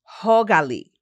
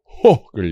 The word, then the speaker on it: hyggelig: Hogali. Hogali. It's spelled Hyggelig, but Hogali.